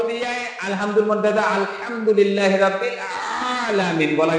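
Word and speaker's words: العالمين: এই জায়গা হালকা একটু আঙ্গুলটা চাপ দেন আলামিন আঙ্গুলটা এই জায়গা এইযে খালটা হালকা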